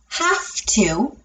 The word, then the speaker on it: have to: When I say have to indicate obligation or necessity, that V turns to a soft letter. Have to, have to.